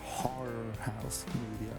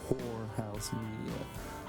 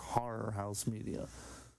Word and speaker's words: Horror House Media: It's horror house media, not Whorehouse Media.